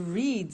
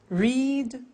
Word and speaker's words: read: Read, read. Notice that. Now, read and read are written exactly the same, but the pronunciation changes in the past tense.